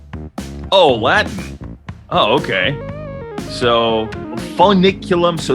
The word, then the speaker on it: Foeniculum: So Foeniculum is Latin for fennel. So just think about fennel, how you pronounce fennel, then you pronounce Foeniculum.